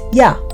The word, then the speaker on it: Yah: first two letters were translated in English as YH and pronounced Yah.